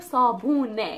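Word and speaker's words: صابونة: The last one is sabune, sabune. So sabune means a soap, a piece of soap. So this is the soap, sabune.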